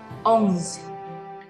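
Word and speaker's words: onze: 11-20 ya Hai Nah untuk 11 itu ada OMG kira-kira jadi bunyi Oh ketemu njadi Engkong kemudian ada unsur-unsur z nya di belakang oms yo yah oms The Key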